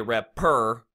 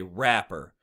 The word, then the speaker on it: rapper: Now, stressed syllables are, for example, if I was to say the word rapper, okay, there is one stressed syllable in the word rapper. Right? You wouldn't say rapper, you would say rapper. The app part is the stressed syllable. There's 2 syllables in rapper, and the first portion of the syllable is the stressed part.